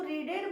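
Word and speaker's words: read: इस प्रकार के भी सेंटेंस आएंगे तो उसको रीडेड मत कर लेना रीड को कहां प भी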